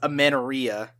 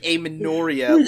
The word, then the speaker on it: Amenoria: I pronounced it wrong the first time, too. I thought it was Amenorrhea. Oh. But apparently it's pronounced like Amenoria, like, a menorah.